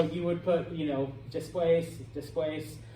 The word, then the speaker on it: después: So you would put, you know, después. The word después always has an accent on the E.